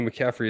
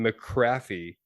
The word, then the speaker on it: McCaffrey: fan local team and he was mispronouncing McCaffrey and if you don't know who McCaffrey is you don't watch football um he was saying McCarthy and he was super